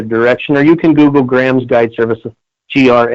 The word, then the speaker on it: Graham's: Joseph I'm sorry because I was pronouncing it wrong it's Grahams plural GRA H AMS guide services com yep